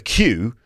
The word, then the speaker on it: queue: a train station a queue the word q is just the letter q followed by four completely unnecessary letters I mean you know